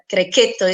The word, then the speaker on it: Grechetto: Grechetto as people are used to call, but Grechetto is the better pronunciation, and the Sagrantino di Montefalco, our king wine.